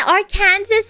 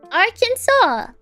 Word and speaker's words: Arkansas: but for some reason they say Arkansas like what it's a French pronunciation for Arkansas oh oh okay I